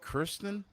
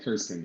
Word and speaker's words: Kirsten: So, with the with your match coming up, how do you pronounce his name? Is it Kristen? Yeah, Kirsten. Yeah, Kirsten.